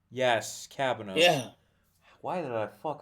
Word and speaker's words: Cabanos: I'm sorry if I butchered her name. One sec. She was You're Chiaki fine. and Danganronpa. Christine Marie Cabnos. Yes, Cabanos.